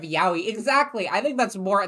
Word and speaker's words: Yaoi: cool enough I mean I said yoy instead of Yaoi exactly I think that's